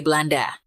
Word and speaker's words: Belanda: dan bahasa-bahasa di nusantara kata holanda diucapkan sebagai Belanda huruf ha seringkiali berubah menjadi b dalam pelafalan lokal misalnya seperti perubahan Holland